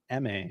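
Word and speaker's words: Aimée: Oh, also, her name is spelled Amy, but there's an accent, so it's pronounced M.A.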